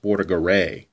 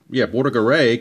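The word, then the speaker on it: Bordagaray: And I think it's actually pronounced Bordigheri, if I remember correctly. So I'm going to call him Bordigheri.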